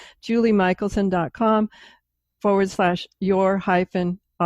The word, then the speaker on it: Michelson: Julie spell your name pronounced at Michaelson but it's not spelled that way I found out so spelled wrong Mich els o n is missing the a okay great we'll have